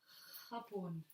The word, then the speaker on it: Japón: For example, we can say isla, island, isla, J, Japón. J has the same pronunciation as G. J. Pretty strong.